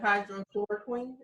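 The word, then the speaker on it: hydroxychloroquine: I pronounce it hydrochloroquine. Is that the proper pronunciation of that word? That's correct. Yeah.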